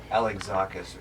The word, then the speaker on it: Alexakis: I told e gz I said think eggs Alex zakus or something like that